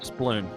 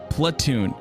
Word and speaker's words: Platoon: Because I heard Sploon. Sploon? Platoon.